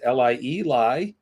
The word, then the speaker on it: Lie: His name is spelled capital Trygve, Trygve, and his last name is Lie, Lie, period, lie.